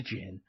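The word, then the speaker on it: djinn: The d is silent. It's just a jin.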